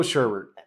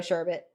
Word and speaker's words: sherbet: And it's sherbet, not sherbet. Sherbet. And I Whatever, say that no. I say it like that because it's what my grandma fucking like beat, not literally, but beat into me as a kid.